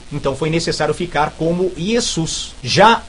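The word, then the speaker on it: Ἰησοῦς: a pronúncia não é ious porque esse ditongo que se formou o o com u tem som de u então a pronúncia é yesus transliteração é para mostrar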